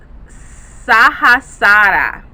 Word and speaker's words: Sahasrara: for this chakra is Sahasrara. Sahasrara. Okay, I'm probably saying that wrong, but it's spelled Sahasrara. But the Rara isn't like rah rah, it's rah rah. Okay, you draw out the first day.